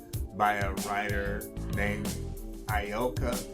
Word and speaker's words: Ayoka: s-e-e-n apostrophe T U by a writer named ayoka B now ioka is spelled a-y-o-k-a but it's pronounced ayoka that's spelled a-y-o-k-a and